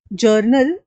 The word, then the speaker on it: jour: word जर्नल इज राइ जर्नल यह French word कौन सा है इसके लिए जूर मतलब फ्रेंच में इसको जूर ऐसे प्रोनाउंस किया जाता है और फ्रेंच में